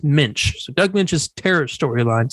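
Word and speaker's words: Moench: role in doug uh pretty sure it's pronounced mensch so doug lynch's terror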